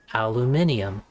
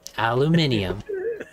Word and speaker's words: aluminium: you know most the rest the world say aluminium and if you look at it that's more phonetically correct and i have to admit it to them you get that aluminium i still say aluminum yep most of the